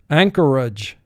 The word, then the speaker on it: Anchorage: will represent the sound anchorage anchorage anchorage is the largest city in the state of alaska ang core age three syllables first syllable ang two